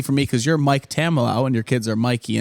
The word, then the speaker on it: Tamillow: I've heard it pronounced Tamilon. Okay. Tamillow. That's Tamillow. what I thought it was. Okay. And then Andy Rovat once surprised me and just said camel toe.